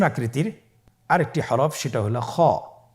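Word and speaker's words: خ: আমরা খ হরফটি উচ্চারণ করব। খ হরফটি হলো মোটা হরফ, উচ্চারণের ক্ষেত্রে মোটা হবে। ছবিতে দেখুন খ হরফটি কীভাবে উচ্চারণ করতে হবে। খ হরফটির মাখরাজ হলো কণ্ঠনালীর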